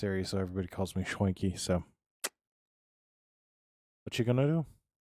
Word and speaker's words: Schwanke: So he actually said Schwanky, but the correct Germanic pronunciation is Schwanky. So there will be some people that say it's Schwank, but I've always been told Schwanky.